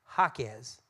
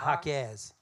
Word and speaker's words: Jaquez: name is actually pronounced Jaquez, not Jaquez. Oh, Jaquez? Yeah, the accent's on the first syllable.